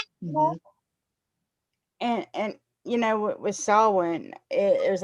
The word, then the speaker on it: Samhain: And I remember the first time I ever said Sam Hain, I got my butt chewed over that.